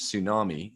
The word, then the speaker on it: tsunami: a different place yeah they spell it differently so there you go cool cool being silent t uh yeah anyway god